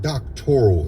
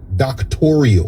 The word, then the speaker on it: doctoral: And if you listen carefully, the word doctoral in this conversation becomes a sticking point because she can't even pronounce the word. She pronounces it doctorial. I paid for a doctoral program.